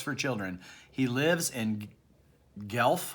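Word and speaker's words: Guelph: children he lives in Gelf I think you pronounce that Ontario Canada and he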